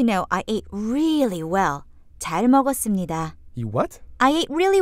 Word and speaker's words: 잘 먹었습니다: 잘 먹었습니다. Now, before we go on, let's get some pronunciation practice in here. I ate well. Or, thanks for a great meal. 잘 먹었습니다. 잘 먹었습니다. 잘 먹었습니다.